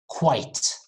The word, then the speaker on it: quite: it's like two syllables the second word quite very fast quite quite it's like saying white you know the color white not black white but you add q at the beginning quite quite right not